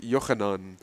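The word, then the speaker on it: Yochanan: Um, so it's based off of my name, which is, cuz in Hebrew it's pronounced Yanan, and it's spelled Y O C H A N O N.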